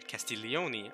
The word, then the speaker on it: Castiglioni: I remember to uh I learned to not uh pronounce g in the name castillioni I know status Leon